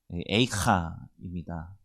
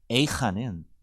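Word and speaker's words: איכה: 당분간 함께 나누고자 합니다 예레미야 애가의 히브리어 책 제목은 a카입니다 마치 우리말 성경에 애가라고 하는 발음과 상당히 유사합니다 물론 우리나라 말 제목에서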